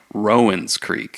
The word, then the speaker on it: Rowan's Creek: I actually heard that the distillery says the correct pronunciation is Rowan's Creek which is very not like the county really here in Kentucky it's Rowan County but they say no it's Rowan's Creek and I'm like I